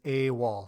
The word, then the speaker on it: AWOL: we pronounce it as a wall so there's a letter and then the word wall which stands for absent